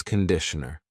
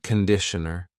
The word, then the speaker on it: conditioner: This is shampoo and this is conditioner. Be careful of the pronunciation. It's not conditioner. It's conditioner. The first vowel is a schwah.